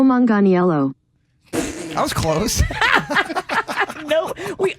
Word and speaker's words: Manganiello: i got nothing i've always heard manganello yeah it's a tough one i got excited when i saw joe and they got really joey nailed that got this get real down after okay here's how they say it joe manganiello that was close no